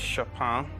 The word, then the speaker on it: Chopin: actually heard of is shoppin because I used my girlfriend plays the piano and I used to call him chopping I used to get the name wrong so I'll go for